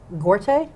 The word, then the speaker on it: Gorte: So to my left is Officer Chris Gorte. Am Yes. I pronouncing that right?